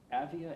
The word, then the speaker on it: Avia: I think it's pronounced Avia, A-V-I-A. A-V-I-A, yeah.